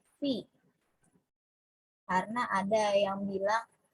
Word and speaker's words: pi: Nah, simbol yang berbentuknya seperti N ini dibacanya bukan N ya, tapi dibacanya adalah Pi.